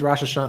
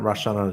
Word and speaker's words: Rosh Hashanah: got to say yeah today today's Rosh Hashanah are not Rashana Yom Kippur yeah I'm